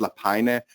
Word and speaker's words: Lapajne: guy so I'm don't try to pronounce my last name it's actually pronounced latina so I come from